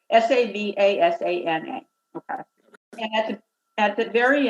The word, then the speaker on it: Savasana: But so at the very end of a yoga practice, there's this rest period called Shavasana, and it's with an S. It's pronounced the sh, but it's Savasana.